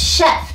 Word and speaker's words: chef: When you fling a fang into the fabulous fudge I'm going to make, you'll realize why the chief of the Waldorf is a man. That's pronounced chef, dearie.